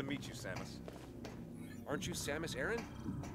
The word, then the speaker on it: Samus Aran: so high-tech Samus Aran Samus Aran that's how they pronounce yeah I always thought it was Samsa Ron that's how I've always pronounced it Aran Iran because to